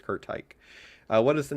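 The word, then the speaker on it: Curt Teich: I go back and forth with how to pronounce it, but I believe it is Kurt Tyke.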